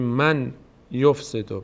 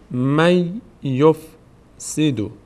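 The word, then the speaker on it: من يفسد: باید یا تلفظ کنیم نباید بگیم من یفسد بگیم می این نون یا تلفظ میشه میشه چی می یفسیدو می یفسیدو می یفسیدو دقت کنید من نگید من یفسد نون تبدیل میشه به حرف مابد من یفسد یفسد یفسد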